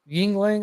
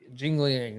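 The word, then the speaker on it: Jingliang: midlife crisis he's fighting yingling i think that you'd probably pronounce it jingling okay minus 295 favor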